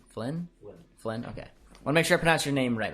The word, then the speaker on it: Flynn: nice fan i like it flying flying i pronounce it f l y n n flynn flynn okay wanna make sure i pronounce your